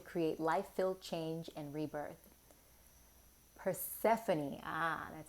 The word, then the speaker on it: Persephone: these cards there we go hmm New Beginnings Persephone New Beginnings I'm going to read from that